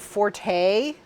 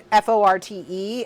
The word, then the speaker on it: forte: learned that the word Forte like as in f o r t as in that's not my forte I recently learned that that is correctly pronounced Fort and I learned it